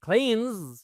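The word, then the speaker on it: cleans: তাহলে হি ক্লিনস, খেয়াল করেছেন তো উচ্চারণটা কিরকম? বর্গীয় জয়ের মতো। এখানে কিন্তু সুন্দর শয়ের মতো উচ্চারণ না।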